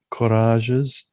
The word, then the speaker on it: courages: Most of the English words are given English pronunciation, but words of French origin were given French pronunciation. Avril, liqueur, melody, courages, pilgrimages. So the G has that kind of French zh sound to it, whereas the